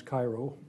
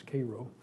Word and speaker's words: Cairo: of riots in Cairo Illinois which is not pronounce Cairo its Cairo and even though it's part of Illinois called